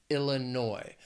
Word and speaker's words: Illinois: potatoes then there's Illinois also three syllables but the stress is on the third syllable Illinois again the spelling and the pronunciation can get a little crazy that last syllable that final syllable noi Illinois the next State Indiana